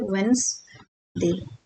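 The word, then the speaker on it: Wednesday: लेकिन इसको हम यूज़ करते हैं वेडस डे तो डी साइलेंट है सेम वे विद दिस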